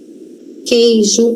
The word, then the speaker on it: queijo: queijo, aquele, aquilo. Percebam que o U não é pronunciado, tá?